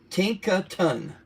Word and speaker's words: Tinkaton: How do you pronounce Tin? Tink. And then Ka. How you pronounce that? K. Ka. Ka. And then Ton. Katane. Tinkaton.